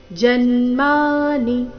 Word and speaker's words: ಜನ್ಮಾನಿ: ಮೇ ವ್ಯತೀತಾನಿ ಜನ್ಮಾನಿ ತವಚಾರ್ಜುನ ಜನ್ಮಾನಿ ಇಲ್ಲಿ ನೀ ರಸ್ವ ಜನ್ಮಾನಿ ಈ ರೀತಿ ನೀ ಮೇಲೆ ಲಯ ತಗೊಂಡು ಅದನ್ನ ದೀರ್ಘ ಮಾಡಬಾರದು ಜನ್ಮಾನಿತವ ಜನ್ಮಾನಿತವ ಚಾರ್ಜುನ ಚ ದೀರ್ಘ